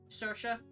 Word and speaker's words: Saoirse: That's pronounced different from how it's spelled. Saoirse.